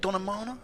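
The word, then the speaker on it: Donemana: over and you're from is it Donna Mana is that how you say it yeah and that's in County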